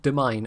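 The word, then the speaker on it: demesne: yeah no apparently it's it's pronounced demine and I've been saying it demen all these years literally years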